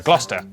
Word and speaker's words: Gloucester: Cester is pronounced stir. Leicester, Worcester, Gloucester.